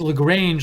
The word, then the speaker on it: LaGrange: Justin LaGrange, he says, thanks for answering my question, but I pronounced my name is LaGrange, like the song from ZZ Top.